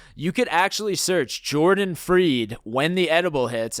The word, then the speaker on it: Fried: And then if you're watching this on YouTube right now, you could actually search Jordan Freed, When the Edible Hits, and that's Jordan Freed spelled like fried, F-R-I-E-D.